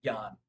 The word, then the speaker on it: jnana: The J is kind of silent, just like the K is silent in knowledge. It's where the word comes from. So you would say Yan, uh, even though it's spelled Jnana.